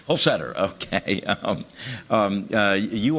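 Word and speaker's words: Holsether: of your last name I could imagine it with a hard t or th sound help us whole Setter whole Setter okay um um uh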